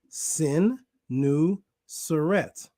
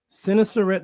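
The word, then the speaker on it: Senusret: at this one sinisteret this is how you say the name and this name has meaning sin nu suret okay sinisaret the third also written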